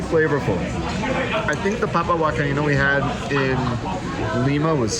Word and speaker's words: huancaína: You guys, I've been saying it wrong the whole time. It's not huancaína. It's huancaína. Huancaína.